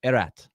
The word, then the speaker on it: Erat: and Terry and said you guys are saying his name wrong it's erat erat is what so for one game Pete and Terry tried to do it erat erat but they've been doing Martin rat for eight years or something like that